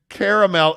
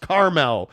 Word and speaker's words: caramel: Jeremy Bolton says, as mayor, I declare that caramel is pronounced Carmel.